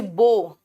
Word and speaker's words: bow: जैसे बो, धनुष को बो कहते हैं, BOW को बाव, मतलब झुकना।